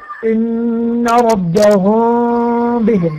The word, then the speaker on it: إن ربهم بهم: ويأتي بعدها باء متحركة، يتم إخفاء الميم عند النطق، أي لا نطبق الشفتين. نقول إيه؟ إن ربهم بهم، ما تقولش ربهم ونقفل الشفتين، لا نطبقها، لا نطبق الشفتين، إن ربهم بهم، وهكذا.